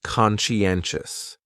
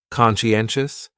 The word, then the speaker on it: conscientious: So conscientious has four syllables and the stress is on that third syllable. N conscientious conscientious. That second syllable is what really confuses people because that sigh almost sounds like you're saying she. Conscientious.